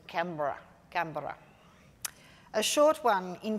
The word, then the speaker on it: Canberra: Canberra, the national capital, is the white fellows spell it like Canberra. But the proper Ngunnawal word for it is Canberra.